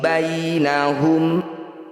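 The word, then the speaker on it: بينهم: Inna rabbaka huwa yafsilu bainahum. Ya sukun didahului fathah disebut bacaan madlin atau madlayin. Bunyi ya sukunnya baca dengan lembut atau lunak. Bainahum, jangan dibaca bainahum, itu berarti belum lembut.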